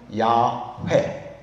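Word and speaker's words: 야훼: 해 보자 해본 결과 그 이름은 야회. 야회가 아주 근접한 발음이에요.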